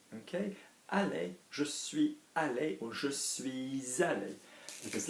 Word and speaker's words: suis allé: So, je suis allé, je suis allé.